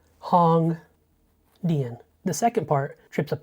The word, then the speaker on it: Hongdian: But I can fairly confidently say it's Hongdian, not Ongdian, not Hongdian, Hongdian.